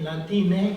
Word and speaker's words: Latinx: A or O is, and pronouncing it Latin X. And this is the thing that makes somebody like me uncomfortable. Like, well, wait a minute, that you can't pronounce that in Spanish. But I was recently at a colloquium on ecology in Buenos Aires, and in Spanish, people were saying Latinx.